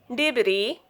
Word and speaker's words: debris: Isle, debris, island, isle, islet. Rule of silent letter T is before CH.